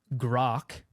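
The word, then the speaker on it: Grok: ring Elon announced grock I think grock's how you pronounce it right I think so yeah you never know with I actually looked this up I I typed in like grock pronounciation and I'm pretty sure that's what it is yeah so he he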